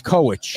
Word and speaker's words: Kowitch: I think it's Kowitch.